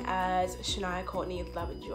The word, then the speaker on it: Shaniya: from my Rae but for mobile so you pronounce my full name as a Shania Courtney in love and you are it's pretty simple pretty easy a lot of people call me Sonya shaniyah if they're gonna mixed up my life